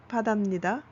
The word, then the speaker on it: 바다입니다: Vì vậy, khi nói, chúng ta nói , nhưng khi viết, chúng ta sử dụng '바다입니다'.